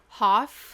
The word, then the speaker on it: Hauf: and we've got Heidi Hoff is it Huff or Hoff Hoff Hoff but I've heard it pronounced both ways okay no relation to David